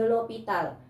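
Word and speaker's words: L'Hôpital: Dan yang ketiga itu ada metode L'Hopital. Tulisannya L'Hospital, tapi ini dari bahasa Prancis, makanya bacanya L'Hopital gitu ya.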